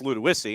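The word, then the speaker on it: Ludowici: Okay, I know it's ludissy and I know how to spell it, but that's that's what you would have to know.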